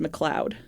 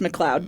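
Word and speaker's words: McLeod: name m mck oh I think that's pronounced McLoud oh well MC c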